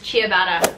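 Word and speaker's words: ciabatta: want what you did Min next word is chabata Chata chabata bread I like it chabata CH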